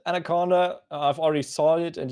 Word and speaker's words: አናኮንዳ: It's called Anaconda. I've already saw it, and you see it in the stream title. Their writing is a little bit different than normal, but they are pronounced Anaconda.